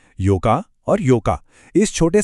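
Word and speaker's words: ようか: कि ये एक ऐसी जगह है जहां अक्सर उच्चारण में सबसे बड़ी गड़बड़ होती है। महीने की 4थी तारीख को कहते हैं योक्का, जहां ओ का साउंड बहुत छोटा होता है।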